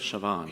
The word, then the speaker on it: Siobhan: And it's pronounced, Well, the combination of letters can be pronounced in one of two ways. It's either V or B.